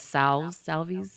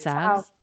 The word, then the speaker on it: salve: I thought it was salves, but it's salves. Salve.